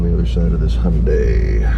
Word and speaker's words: Hyundai: other side of this hyundai rhymes with sunday overshot a little bit